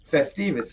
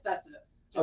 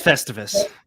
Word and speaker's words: Festivus: up i'm i'm going to state that publicly festivals yes do you do you want to do